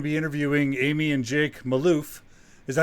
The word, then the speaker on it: Malouf: Today we're going to be interviewing Amy and Jake Malouf. Is that how you guys pronounce it?